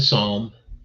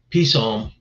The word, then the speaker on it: psalm: And lastly, I'll close out today with a psalm. That word's kind of strange because I always used to call it peace psalm. The pe is silent, right?